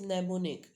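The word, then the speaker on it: mnemonic: M is silent. So sound is nemonic.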